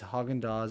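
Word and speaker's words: Häagen-Dazs: mattis invented the phrase haagen-dazs in a quest for a brand name that he claimed was danish sounding however the company's pronunciation of the name ignores the letters a and z and letters like a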